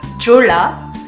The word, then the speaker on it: Jeolla: Donc ce qu'il faut savoir c'est que Gwangju c'est situé dans la province de Jeolla, et en fait Jeonla, en fait ça s'écrit Jeonla, mais en fait Gwangju